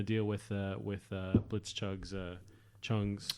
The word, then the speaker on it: Chung: with with blitz chugs Chung's you pronounced Chuck that time it's I got it